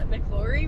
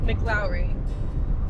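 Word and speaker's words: McLaury: I also wanted to add that I've been pronouncing Cochis and Mcllori wrong. It's actually co cheese and mlowry.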